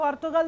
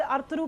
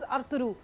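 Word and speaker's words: Ertuğrul: मुझे कहीं अर्तुगरुल में, इसको अर्तुगल नहीं कहते हैं, इसे अर्तुगरुल कहते हैं, जो उनका अपना लैंग्वेज है चाहे टर्किश में, और उसकी प्रोनाउंसिएशन में दिस इज अर्तुगरुल।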